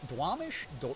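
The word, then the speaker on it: Duwamish: You pronounced Dwamish correctly.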